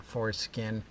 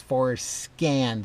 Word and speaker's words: Forscan: In one of my videos, I might have mispronounced Forscan, the software, and might have said Forskin, and people have been giving me a hard time with that. So I'm going to try my best to not mispronounce Forscan. It's Forscan.